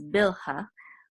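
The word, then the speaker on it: Bilhah: so this is and in English we pronounce this as bilha um which is one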